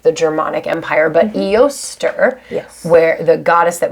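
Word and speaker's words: Eostre: saying eoster that's okay i think eoster what does that sound like an oyster yeah it's like it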